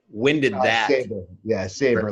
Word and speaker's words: Sabre: right winded laughing yeah savor like like the sword yeah they're not when